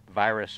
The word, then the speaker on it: Pipistrel Virus: And in fact, they have some labels on some of the Pipistrel Virus, or Virus is the way they pronounce it.